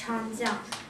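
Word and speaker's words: 长江: Yeah, you're almost right, but it's pronounced Changjiang.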